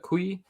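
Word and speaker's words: cuy: So not koi, but kui.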